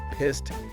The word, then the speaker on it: pissed: And just a note on pronunciation, pissed ends with a soft T sound here, not a T sound.